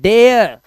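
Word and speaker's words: dare: अब यहां पे है डरे। डरे या तो डरे कर दोगे। लेकिन यह डरे नहीं है। इट is English word. It इज़ an English word and we have to call it डेयर। इसका प्रोनंसिएशन है डेयर।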